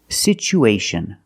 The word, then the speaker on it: situation: pronunciation for this word we see the T as a second syllable with Tua so we pronounce it with the CH sound it's pronounced situ situation one situation or two situations so the second syllable is the long oo like Boot and moon sit situation we